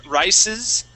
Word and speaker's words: rises: Now this word here, you had said rises. Now this S needs to have a voiced S sound.